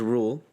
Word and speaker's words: Rhule: His last name is Rule. It's spelled Rhule.